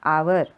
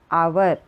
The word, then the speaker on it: hour: H is silent. Pronounce कैसे करेंगे? hour. तो O sound is coming. That's why the article N. इसका sound कैसे आता है? hour.